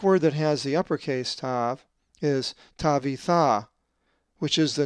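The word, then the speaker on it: ταῦ: The 19th letter of the Greek alphabet is the upper and lower case tav, which is always pronounced t as in top.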